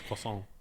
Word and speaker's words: croissant: Do you say croissant? No, because that's not how a British person would say croissant. Nobody says the T. You're overemphasising it. It's croissant. No, Becca, I'm not.